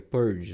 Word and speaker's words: purge: tá em inglês é não nem purg é purge né a pronúncia então assim é é